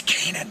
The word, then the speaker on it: Canaan: however you say it it's canaan but they mispronounce it locally so this is part